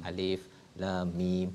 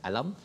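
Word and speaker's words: الم: Alif lam mim bukan alam, tapi waktu jumpa surah Al-Fil kena baca alam lah.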